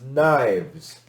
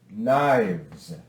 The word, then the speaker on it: knives: form of knife is knives knives and that e is silent knives okay that's exception two